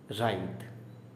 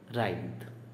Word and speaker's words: writhe: और WRITHE last word, इसका pronunciation है राइद, राइद, ओके।